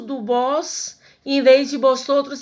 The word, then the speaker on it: vosotros: No espanhol, o V tem sempre som de B. Por isso que eu não vou dizer vosotros ou vosotras, e sim vosotros ou vosotras.